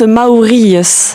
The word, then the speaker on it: Maouries: Et ça se prononce Maour. Maurus.